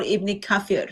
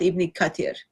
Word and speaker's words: Ibn Kathir: says Ibn Kathir. It doesn't say Ibn Kafir. I thought Ibn Kafir was kind of drink. There is drink called kafir. So we were looking for Ibn Kafir, not Ibn Kathir.